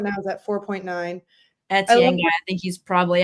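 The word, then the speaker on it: Étienne: Etienne? Yeah. You're right. You're just like pronouncing it slower than needed.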